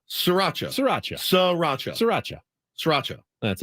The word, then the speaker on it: Sriracha: Kind of slur the SR. Sriracha. Sriracha.